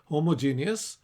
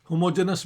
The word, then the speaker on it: homogeneous: The classic correct pronunciation is homogeneous, but now currently homogeneous भी कहा जाता है. तो आपकी अगर if you are into novelty hunting, आप homogeneous भी कह सकते हैं. Both are correct.